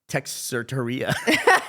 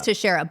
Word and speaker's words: Teixeira: Or as it's pronounced on the popular morning podcast, Morning Somewhere, Texerteria.